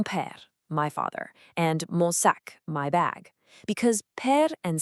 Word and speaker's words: sac: Pronunciation-wise, it's a crisp hard K sound at the end, sac.